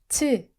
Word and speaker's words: 치읓: 지구, 주말, 치읓. Sounds like 치, like CH in chop.